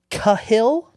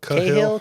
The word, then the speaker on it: Cahill: the way is Derek Cahill c a h i l l Cahill I mean is that how you would pronounce that Derek unor Cahill kahill kahill shout out to that that